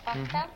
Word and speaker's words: Wachtel: Brian Breger and now Wachtel. Did I say it right? Wachtel? You did.